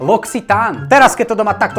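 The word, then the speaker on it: L'Occitane: Čítam, čítam locitane ločiten. Losin nie kamoško, Loxitán.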